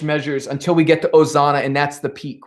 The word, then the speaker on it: Hosanna: very bad leader um you do not pronounce the h in ozana in latin i i'm thinking of you know palm sunday here at church in america it's ozana no h no hosanna ozana ozana next chelsea all